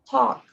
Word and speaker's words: talk: Talk, right? The T is not like in te, it's talk. So it's kind of like this, right?